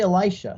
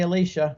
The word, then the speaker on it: Elisha: or did he say Elisha so we did the uh Catholic pronunciation but my wife had to keep saying cut cut you said Elisha you got to say Alicia so we'd have to do